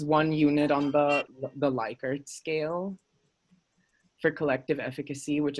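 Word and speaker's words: Likert: unit on the the leica scale for collective efficacy which is from one to five um but it's continuous yes he likes it pronounced lickert okay believe it or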